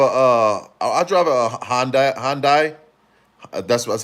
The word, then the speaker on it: Hyundai: Hyundai. That's that's how you pronounce it. Hyundai.